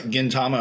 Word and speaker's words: Gintama: and Gintama those probably the three what's a Gintama about am I saying that right I'm sorry if I'm pronouncing that wrong yeah g yes you're saying